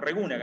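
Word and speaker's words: Regunaga: Porque en vasco el tilde no se escribe, pero suena, ¿no? Nosotros no decimos Mújica, decimos Mujica, ¿no? Entonces, si bien no está el tilde, pero es Regúnaga. A veces se escribe mal con tilde, pero se debe pronunciar.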